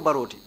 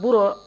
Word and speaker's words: Barrow: ko wolem Lieutenant Basiru Baroti. Yeah, but the way they pronounced the Barrow was not correct. So he told them that he doesn't know any Lieutenant Barrow in the army.